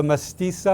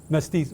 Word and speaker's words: mestizo: She's a mestiza, I think is how you say it. How do you say the mixed race, Gabriel? Mestizo.